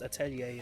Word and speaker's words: Atelier: It's just Atelier is how my French friend says it, and since it's a French word, I'll let him have it.